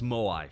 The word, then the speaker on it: Moai: When they say Maui, it's just blatantly wrong. See, one thing's interesting when you say Mo, it's pronounced properly by you right now, it's Moai, correct? Yes, correct, Moai, yes.